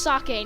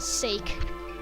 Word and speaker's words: sake: And yes, it is pronounced sake, not sake.